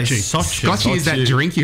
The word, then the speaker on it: Sochi: How do you pronounce it here? Sochi. Sochi. We just say Sochi.